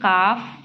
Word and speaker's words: calf: In some words, L is silent as in calf, yolk, half.